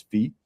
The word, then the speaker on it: phi: Well, it's PHI, like the Greek letter, which I think is really pronounced as phi, but for It some is. reason, I always thought it was 5 for some reason.